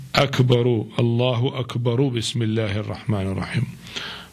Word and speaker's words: Akbar: with Bismillah ar-Rahman ar-Rahim, he should pronounce the R of Akbar as Akbaru, Allahu Akbaru, Bismillah ar-Rahman ar-Rahim.